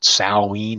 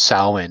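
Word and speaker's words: Samhain: butcher it a little bit and call called salween or Sal when but yeah in in in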